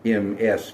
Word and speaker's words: Ms.: Not Miss, not Mrs., not even the Ms. of MS period, but Ms., M-I-Z, Ms. Lois. You know, you have Ms.